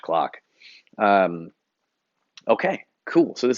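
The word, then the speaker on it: Klock: is spelled and clock is spelled k-l-o-c-k so neither of those words starts the way that you think it would um okay cool so uh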